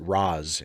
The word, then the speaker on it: Ra's: And of course, for some reason in Batman Begins, or in the Nolan trilogy in general, they pronounce it Raz instead of Raish. But I like Raish.